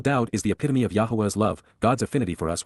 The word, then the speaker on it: Yahweh: he enjoys our company Yahweh Yahweh the proper pronunciation of the name of eloa God as directed in his Torah teaching regarding his high existence